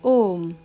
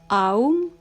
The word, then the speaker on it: Om: middle letter U is silent so we will pronounce it as om not owe or arm for an example the word knowledge starts with